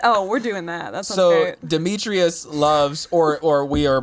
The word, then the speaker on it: Demetrius: and we have uh dimitri who also loves her loves her mia there's one more syllable in that name dimitri us demetrius oh it's demetrius dmitry is greek not